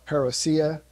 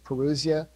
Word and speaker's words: parousia: about the second coming is the greek word parousia some people will call it perocya but most greek experts will pronounce it perusia it don't matter it's a fancy greek word